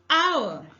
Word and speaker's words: hour: A, hour, honor, honest, honorary. All these words we take an because the initial H is silent.